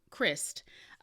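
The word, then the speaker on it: Kryst: about um miss shalise i think her last name is pronounced christ and she was um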